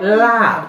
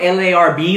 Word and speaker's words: larb: Yeah, it's called lab. It's spelled L-A-R-B, like larb, but it's pronounced lab, all right?